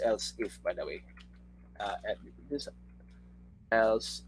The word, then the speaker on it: elif: We read this as else if, by the way.